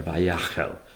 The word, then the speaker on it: Vayakhel: Episode 10, Vayakhel, or Vayakhel. Some people would like to pronounce it with the emphasis on the second syllable.